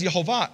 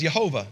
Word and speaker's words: Yehovah: of this, in 1611, the J was interchangeable with the I. And it's actually spelled six times with a J, once with an I. So they would have read this as Yehovah back in 1611, which is pretty close.